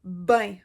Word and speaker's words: bien: une autre expression c'est le mot bien mais que nous on prononce ben on va dire admettons